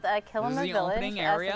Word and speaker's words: Kilima: Yeah, it is called Kilima the Village. opening area? So the root word is similar to Kilimanjaro. It kind of just helps you pronounce it there.